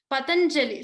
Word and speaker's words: Patanjali: Patanjali. So here ja has to be stressed upon.